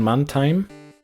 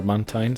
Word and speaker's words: Mantine: Then we have time is already used unfortunately on mantime or mantine. Sorry, I mispronounced it there.